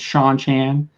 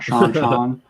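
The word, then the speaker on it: Shang-Chi: Shan Shan are yeah am I saying it right Shan Chan it's Sha Chan not seanan okay um but yeah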